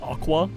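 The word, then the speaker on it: Aqours: when I learned that you don't pronounce the S.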